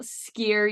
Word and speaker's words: Skyr: And it turns out it's organic Icelandic style skyr yogurt. Skyr is in like you're skiing down a hill for those who want to know how to say it.